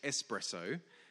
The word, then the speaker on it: espresso: was right and eventually I learned indeed that it was pronounced espresso and coffee lovers everywhere